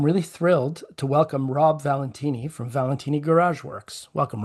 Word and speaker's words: Valentini: Oh, it's Valentine Valentine. It's anything under the sun except for the correct way.